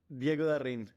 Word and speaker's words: Diego Da Rin: Diego Da Rin.